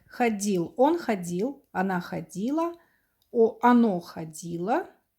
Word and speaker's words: ходило: Again, we put away this t, and it comes out like ходил. Он ходил. Она ходила. Оно ходило. Again, we pronounce a, but spelled with o for neuter.